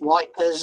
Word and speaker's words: Ypres: It's modelled on the poppies that grew after the Great Battle at Ypres, or however you pronounce wipers, as the Tommy calls it. Ypres.